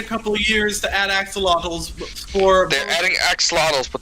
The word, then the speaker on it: axolotl: the porn titles was full throttle axolotl and that did the job quite nicely it taught me exactly how to pronounce axolotl in a way that